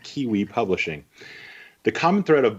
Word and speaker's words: KWE: She likes to pronounce it Kiwi Publishing.